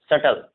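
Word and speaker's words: subtle: या बी के बाद टी होगा तो भी बी साइलेंट होता है। जैसे हम इसे पढ़ेंगे कॉम, क्लाइम, प्लमर, ठीक है, लैम, हम, डम, सटल, इसे सटल पढ़ेंगे क्योंकि बी के बाद अभी हमने पढ़ा है कि बी के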